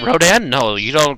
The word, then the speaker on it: Rodan: Just don't call it Radon. That bugs the out of me. Rodan?